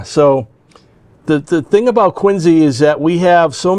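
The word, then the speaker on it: Quincy: We have a a special call sign that I have uh for the Quinsey radio club KW1 NZE. That's how we pronounce Quinsey.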